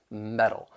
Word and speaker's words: metal: And the reason that we're going to use a flap T is because it comes between two vowel sounds. So, um, I'm from the United States, so I would pronounce it as metal, which then means it's